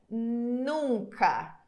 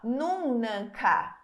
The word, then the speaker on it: nunca: ni no nu nunca agora o n que vem depois a gente não pronuncia ele fica como ele fica como se fosse uma extensão da vogal Então você tem o nunca né então o nunca ele você não fala nunan você fala isso nunan ninguém fala isso